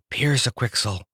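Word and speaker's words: Pyrzqxgl: become a big strong bird like a hawk Pierce a quixel he pronounced it the right way so in a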